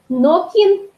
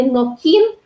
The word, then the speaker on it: нокин: То есть кин – это кто, нокин или нокин. Тут такое плавающее ударение в удмуртском языке, то есть и на первый, и на второй слог может быть.